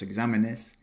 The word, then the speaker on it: exámenes: Fun fact, by the way, examen in the plural, so los exámenes, has an accent on the A, but it does not in just the singular.